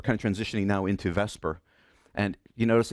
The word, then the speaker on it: VSEPR: Now when we were talking about um those electron pairs and we're kind of transitioning now into vesper and you notice it's pronounced vesper but it's not spelled vesper.